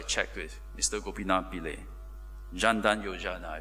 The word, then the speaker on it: Jan Dhan Yojana: embraced this wave of change Prime Minister's Modi's Jan dhan Yojana program I wasn't too sure how to pronounce this in Hindi so I checked with mr. coconut belay Jan dhan Yojana I pronounce correctly it's providing universal access to basic